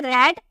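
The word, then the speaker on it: read: रीड का second form हो जाता है रेड और थर्ड फॉर्म हो जाता है रेड। यानी कि इसका सेकेंड देखने में सेम होता है बट इसकी प्रोनाउंसिएशन अलग की जाती है। रीड, रेड, रेड।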